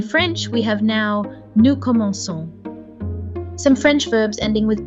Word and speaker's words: commençons: To remedy this, French adds a little S under the C to remind us to pronounce the hard K as a soft S. In French, we have now nous commençons.